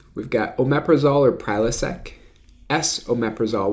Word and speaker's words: esomeprazole: We've got omeprazole or Prilosec, S-omeprazole, which is an enantiomer of omeprazole, so it's pronounced S and then omeprazole.